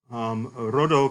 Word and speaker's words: rho: This is borrowed from Greek ultimately, from two words in Greek, rhodo coming from the Greek word for rose and dendron for tree, a rose-like tree.